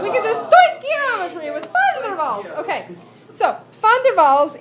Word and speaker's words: Van der Waals: say this name with me because Americans typically mispronounce it, Van der Waals. Van der Waals. And Americans want to say Van der Waals. No. Van der Waals.